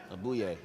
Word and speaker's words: Aboye: How you pronounce Everybody, that? yeah. Abuye.